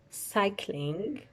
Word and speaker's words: cycling: Cycling. This C is pronounced as S. This C is pronounced as K.